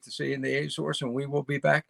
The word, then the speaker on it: Azores: ago yeah that's terrible and they pronounce it a source are you serious yeah